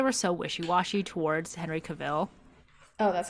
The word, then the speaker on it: Cavill: I always said Cavill, but like Like Cruella de Vil. Henry Cavill, KA-VL.